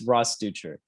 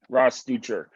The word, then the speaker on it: Rosdeutscher: Along with me is Alex Compton and Rosdeutscher. Uh, how do you pronounce Yeah, the last name? yeah, it's Rosdeutscher. Rosdeutscher.